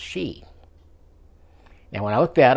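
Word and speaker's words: sidhe: looked that up and it's actually Irish folklore Gaelic and it's actually pronounced she now when I look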